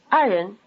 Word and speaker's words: 爱人: Notice that in the word 爱人, the second syllable has the neutral tone.